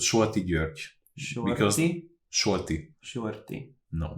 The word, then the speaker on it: György: György. George.